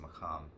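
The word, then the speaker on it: maqam: tradition the arabic maham i believe it's pronounced macam if you know arabic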